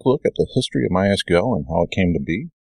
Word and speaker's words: MySQL: hear some people say my sequel but officially the documentation is pronounced my SQL so there's this official